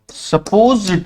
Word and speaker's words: supposed: वी आर सपोज्ड टू, यहां पर ध्यान रखेंगे प्रोनाउंसिएशन का, सपोर्ट नहीं है, ये सपोर्ट नहीं